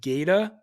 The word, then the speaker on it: Gata: is a guy named geda and um like gator or Gator g-a-t-a okay but pronounce Gata like short for alligator and this guy is